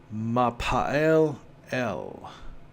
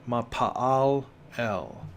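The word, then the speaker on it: מה פעל אל: And that phrase is pronounced Mapa'el El, or Mapa'al El.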